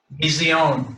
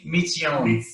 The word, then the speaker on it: Mitzion: Mizion, Mizion, Mizion, Yon. See, this is Yon, Mizion. It's a TZ, Mitzion, Mitzion. Because Zion is Zion, okay? So Mitzion. All right, anybody else have anything?